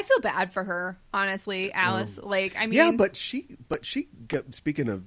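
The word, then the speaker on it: Alais: Which is not, it's spelled differently. Like, it is. But it's Alice. It looks like Elise or something like it's A-L. There's Well, she's S's. French. Yeah. There's S's instead of C.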